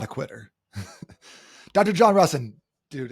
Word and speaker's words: Rusin: Uh, it's Russen. Everyone messes that one up. Okay. I've been saying it wrong for like a decade then. Yeah, everyone has. Russen.